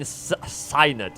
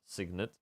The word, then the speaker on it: signet: All right, let's let's try the bane sinet, I think. Or no, bro. I need to learn how to pronounce that. It's going to drive me crazy. Define sit. Signet.